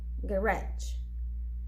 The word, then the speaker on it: garage: the words are stressed in the second syllable garage police page 12 exercise 10